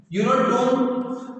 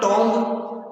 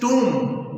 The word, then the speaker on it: tomb: Since the discovery of his tomb, T-O-M-B, tomb, the right pronunciation, not tomb, the right pronunciation is tomb, B silent, tomb.